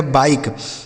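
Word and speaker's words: bike: तो यहां पर इ का उच्चारण कहीं भी नहीं हुआ है। इसे पढ़ा जाएगा बाइक।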